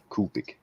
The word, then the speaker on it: Copic: the Copic one oh okay say it right kopic this is a kopic oh it's but yeah I